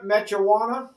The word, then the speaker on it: Mechuwana: We are here at, I'm going to try and pronounce this right, Camp Mechawana.